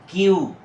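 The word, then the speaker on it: queue: দেখব কিউ কিউ ইউ ইউ এ কিউ এ কুই না তোমরা অনেক সময় এটাকে কুই বলে থাকো এটা হবে কিউ কিউ ইউ ইউ কিউ কিউ কিউ অর্থ হল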